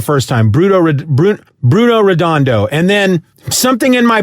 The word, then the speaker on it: Redondo: it correct the first time bruto bru bruno redondo and then something in my brain clicks that's